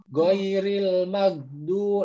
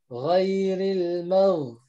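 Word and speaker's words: غير المغضوب: Ya, ingat huruf ghain itu bukan G seperti itu. Jadi nggak bisa goiril magdu. Nah, salah. Ya, kalau misalnya kita bacanya goiril magdu, salah. Yang benar adalah huruf gha. Ghairil mau. Nah, seperti itu ya. Yang terasa adalah ada di tenggorokan atas seperti itu.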